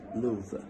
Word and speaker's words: love: to notice here that the word love is pronounced Lou why because sometimes in poetry uh poets do change the pronunciation of some words in order to make the rhyme scheme right so come live with